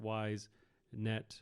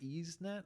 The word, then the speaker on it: YSNET: Oh, it could be pronounced EaseNet. EaseNet? But I just say that because of the game Ease that's spelled YS.